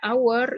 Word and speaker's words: hour: Jadi kalau misalnya mau menggunakan kata hour, itu yang dibaca itu H-nya nggak usah dibaca oleh silent A. Jadi bacanya hour.